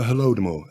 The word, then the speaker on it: Holodomor: The Holodomor, Holodomor.